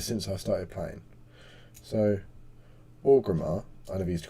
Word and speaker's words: Orgrimmar: I was like, Origama. They're like, Orgrimmar.